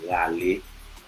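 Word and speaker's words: Ralé: And she was actually doing body work, what we call in Haiti, Rale. Rale. Rale. Rale. R-A-L-E, Rale. Rale. I know the R is a little bit hard to pronounce unless, you have that.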